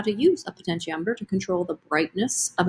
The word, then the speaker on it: potentiometer: That's how you say it, potentiometer. So like how much potential is kind of what it's sort of coming from.